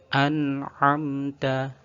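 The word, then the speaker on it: أَنْعَمْتَ: Ini juga perlu diperhatikan supaya membacanya tidak memantul atau tawallud. An'amta, an'amta, an'amta. Contoh yang ada bacaan tawalludnya, an'amta, an'amta. Atau ainnya sama kayak a, an'amta, an'amta. Maka kedua contoh tersebut perlu dihindari.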